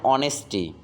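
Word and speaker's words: honest: আবার চিন্তা করো এখানে অ্যান অনেস্টি, তার মানে এইচ থাকা সত্ত্বেও উচ্চারণ হয়েছে কি অনেস্ট, ওর মতো, সেজন্য এখানে আমাদের বসছে অ্যান।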